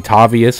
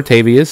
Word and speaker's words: Tavius: easier to remember pronounce some people may call me Tobias hope not I would prefer tavius for tave like t